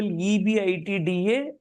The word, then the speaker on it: EBITDA: With respect to information given in para 6, calculate the equity value of RPL if the applicable EBITDA multiple is 4. Yeah, we pronounce it as EBITDA.